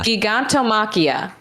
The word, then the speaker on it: Gigantomachia: Gigantomachia, right?